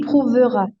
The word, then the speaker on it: prouvera: Il prouvera. Il prouvera, en fait, on ne prononce pas le E, on l'écrit, donc il Prouvera.